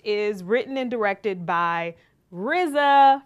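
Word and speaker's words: RZA: We're talking about The Man with the Iron Fist, which is written and directed by Rizza from the Wu Tang Clan. That's how you have to say his name.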